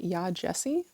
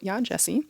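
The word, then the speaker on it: Yaa Gyasi: was Transcendent Kingdom by yah Jessie that's how I heard other people pronounce her name so yah Jessie this is a literary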